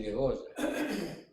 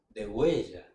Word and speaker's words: degüella: Eh, ataca y degolla. Degüella. El verbo degollar es irregular.